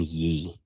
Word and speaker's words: Ye: You can't find yourself on a public broadcast calling him Ye. That's how I'm going to pronounce it, man.